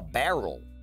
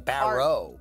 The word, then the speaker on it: barrow: Also, it's not a barrel. It's like a barrow.